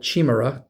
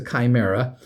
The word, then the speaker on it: Chimera: We called it Chimura cuz Chi, we just pronounced it chi and it's a D&D monster called a Chimra, but it's No, it's a Chimera.